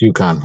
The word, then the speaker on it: UConn: Am I saying it right, Sean? Gregorian or Yukon? UConn, your university. I think I got it. Yes, it's Yukon. Yeah, Okay, that's not mine, but yeah, that's the right way to say it.